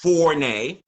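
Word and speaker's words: Forné: know what else to do just google fornay go in your google engine search and type in fournette f-o-r-n-e with an ego over the ends pronounced four nay and uh google that and there you go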